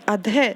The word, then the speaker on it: अधः: ठीक है, अधः है। ठीक है, इसमें अधः ध के बाद ह की साउंड आई क्योंकि यहाँ पर विसर्ग लगा हुआ है। ओके बेटा, अब फिर उसके अधः के बाद आता है